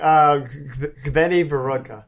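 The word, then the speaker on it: Zvenyhorodka: Zveni Vorodka. Okay. Is the right way to say it.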